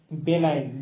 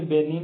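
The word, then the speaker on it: benign: करें तो ये है बेनाइन। जी साइलेंट होता है इसलिए इसे बेनिन पढ़ते हैं, या तो कुछ बेनाइन पढ़ते हैं।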